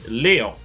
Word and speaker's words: Léon: And in French, there is there's a special accent on the E, which makes it sound like a lay. So, in French, you would pronounce this Léon, and you'd pronounce Leon, Leon.